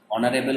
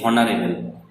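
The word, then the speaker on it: honourable: তাহলে অনারেবল মানে হচ্ছে সম্মানীয়। তাহলে দেখো অনারেবল শব্দটা শুরু হচ্ছে এইচ দিয়ে কিন্তু আমরা বলছি না যে হনারেবল, এইচ দিয়ে শুরু কিন্তু আমরা বলছি অনারেবল, উচ্চারণটা আসছে অ এর মতো, তাই জন্য আগে অ্যান বসলো।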